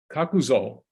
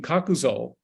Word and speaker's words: Kakuzo: By the way, I should add at this point that Kakuzo, his father was a businessman, and Kakuzo means something like the corner warehouse.